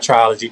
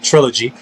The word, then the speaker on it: trilogy: album in the trial Trilogy can't pronounce that word um Trilogy sorry not triology Trilogy six to the album